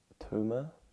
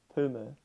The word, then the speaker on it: Tuma: Mia, how do you reckon you say T-U-M-A as a name? Yeah, just like Tuma. Tuma, yeah. Tuma. I think so. It's like Puma, but it's a T. Yeah. Mm. Tuma, but with a T.